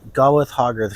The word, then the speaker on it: Gawith Hoggarth: Gawith Hoggarth sounds like you're saying it wrong even though that's the name. It just sounds like you have a lisp, you know?